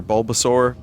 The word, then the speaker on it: Bulbasaur: Now, is it Bulbasaur or Bulbasour? Like sauerkraut? like soar, like dinosaur.